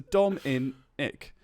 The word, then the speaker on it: Dominic: And so it's like Dom, as in rhymes with bomb, and then in, and then ick, I-C-K, as in ick. I have the ick. But I was saying this, so Dom in ick.